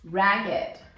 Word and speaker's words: ragged: We don't say ragged, but we say ragged.